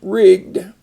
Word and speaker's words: rigged: rigging on the ship rigged and notice the two G's there to keep that short robbed so again to